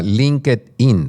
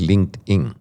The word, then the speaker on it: LinkedIn: Pero en el lado positivo si hay si hay redes como LinkedIn, hay gente que lo llama LinkedI in porque se escribe LinkedI in, pero es LinkedIn, donde yo eh pertenezco.